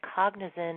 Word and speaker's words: Cognizin: Okay, and I just want, because this is audio, I want people to know that Cognizin is an ingredient, and it's spelled Cognitin, and that is the specific ingredient that you are using in your studies.